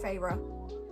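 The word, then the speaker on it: Feyre: little bit more favor if you draw the two syllables on my name pharaoh okay now I know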